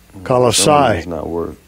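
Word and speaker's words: Κολοσσαί: y'all can hear it colossia it's as it pronounced in the greek strong's g 2857 kalasai all right monstrosities all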